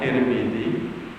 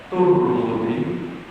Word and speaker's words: Tirmidzi: sebagaimana diriwayatkan oleh Tirmidzi Tirmidzi itu iramnya Iram Ajan sering saya sampahan di sini itu bisa dibaca Tirmidzi bisa dibaca turmudzi bisa dibaca Tarmizi ya maka di Indonesia